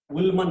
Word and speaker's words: Ullmann: Next, last one is I think that one is you have to spell that ULLMANN reaction. So how to pronounce what is that? Is that Ullmann reaction? Ullmann reaction actually it is.